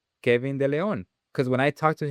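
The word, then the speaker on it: De León: When I used to say his name, Kevin De Leon, because when I talked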